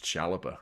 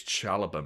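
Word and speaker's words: Saliba: People tuning in like that guy doesn't know how to pronounce Chaliba. It's Chaloba, mate.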